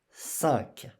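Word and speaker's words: cinq: So the Q at the end, the letter Q, we pronounce like K. 5.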